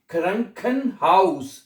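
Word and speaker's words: Krankenhaus: ख्रंखन हाउस।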